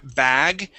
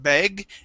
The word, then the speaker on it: bag: go to the word bag okay uh here you pronounced it two different ways saying beg be beg and ba okay this is an a sound bag bag okay very good nice